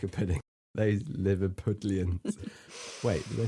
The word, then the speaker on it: Liverpudlian: Yeah, you say Liverpudlian. Pudlian. Pudlian. Like a pudding. Like a pudding. Those Liverpudlians.